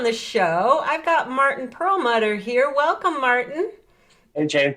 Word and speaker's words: Perelmuter: great to be here i hope i pronounced your last name correctly pearl mudder yes very different people in my family pronounce it different ways you hit on one of the pronunciations so no we're not